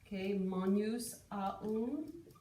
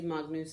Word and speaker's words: magnus: okay and in ecclesiastical pronunciation this model would be monus that's a little bit confusing sometimes for kids to understand what i'm saying so i say magnus um okay that is much more the classical pronunciation magnus so go ahead and